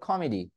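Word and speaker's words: committee: না আশা করছি এই কমিটির মধ্যে দেখুন দুইটা টি থাকলে আমি একটা উচ্চারণ করি না নাকি আমি বলি কমিটি এভাবে বলি কমিটি না একটাই উচ্চারণ করি রাইট সো কমিটি তো কমিটিটাকে আমি দেখুন কমিটি আবার দুই পাশে ই কমিটি দুই পাশে আবার ভাওয়েল সাউন্ড চলে আসছে তাহলে এটাকে বলে কমেডি কমেডি কমেডি ঠিক আছে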